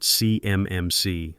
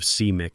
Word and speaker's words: CMMC: He called it CMMC letter by letter like a kid sounding out a word instead of CMIC as a single designation.